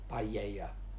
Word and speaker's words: paella: But it's actually, the double L is a y sound, so it's paella.